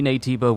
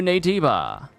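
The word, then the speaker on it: Naytiba: now for reference gigas is stronger than any nativa we've encountered so far team Athena get ready and head to the operation site oh jooy gigas a brand new nativa hold on scan again okay so there's something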